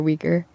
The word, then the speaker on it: Uyghur: Could you teach us the correct way to pronounce Uyghur or Uyghur? Okay, here we go. So Uyghur is pronounced Uyghur. Uyghur.